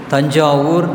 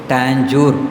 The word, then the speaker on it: தஞ்சாவூர்: இங்கிலீஷ்காரன் என்ன செஞ்சால் அவனுக்கு எது உச்சரிக்க முடியாதோ, சரியாக உச்சரிக்க வராதோ அது அவன் பாணியில் மாற்றி அப்படியே தஞ்சாவூர் அப்படிங்கிற எவ்வளோ அருமையான பெயர், டாஞ்சூர் அப்படின்னு சொல்லிட்டான் இல்லையா?